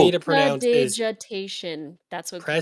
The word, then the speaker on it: prestidigitation: It's prestidigitation.